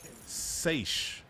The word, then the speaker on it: Saysh: Allyson recently announced that she is launching Saysh. That's S-A-Y-S-H. Am I saying it right? Saysh? I think it's Saysh. Or Sachet, maybe. Saysh, like insatiable?